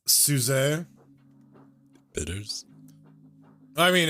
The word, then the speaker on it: Suze: Well, the pronunciation is Sizz. Sees. Else's. Le Sizz. It's French.